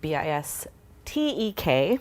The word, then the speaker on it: Bistek: We are making a dish called Bistek, but it's spelled B-I-S-T-E-K.